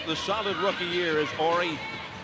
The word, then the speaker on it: Horry: Off the solid rookie year is Horry. He spells it H-O-R-R-Y, silent H.